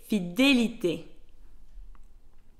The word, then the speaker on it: fidélité: is pronounced E, fidèle, and on the word fidélité, the E has an accent aigu. This is why it's pronounced E, fidélité.